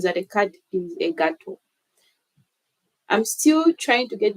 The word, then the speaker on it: gato: See, I'm saying gato, but it's actually gato.